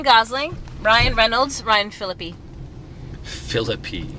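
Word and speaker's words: Phillippe: Ryan Reynolds Ryan philippy philippy that's how you say it Philipe no it's philippy philippy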